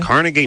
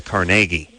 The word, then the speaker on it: Carnegie: a grant from the Carnegie. Oh, they say it like that? Institute. Yeah, but they wouldn't call it Carnegie Hall or Carnegie Mellon.